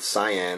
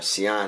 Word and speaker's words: cyan: We have favorite color from our Commodore 64 back in the day, the 8-bit cyan or cyan, however you want to pronounce it.